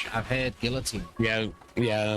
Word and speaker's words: guillotine: Say, I've heard guillotine. Yeah, Americans tend to pronounce the L's. I know. They realize it's a French word and you're not supposed to. It's guillotine. Oh, I know a few that do.